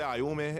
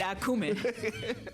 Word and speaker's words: Ayumi: He couldn't say my name. He can say Ayumi. He said Akuma.